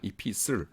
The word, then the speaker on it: epistle: 요거 T자 묵음돼요. 영어 발음할 때 Epistle이라고 발음합니다. Epistle.